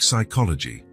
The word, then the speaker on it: psychology: Like psychology, the P is silent, but it's still important.